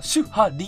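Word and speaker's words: 守破離: シュハリであるな、シュハリって読む。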